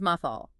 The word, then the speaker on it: mathal: The first one is mathal pronounced with an open meme using the vowel mark known as the fatha.